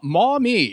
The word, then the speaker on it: Maumee: name because I'm afraid of small me Ohio mommy oh Mommy okay Mommy Mommy which you know a lot of people mispronounce his mommy okay which happens so our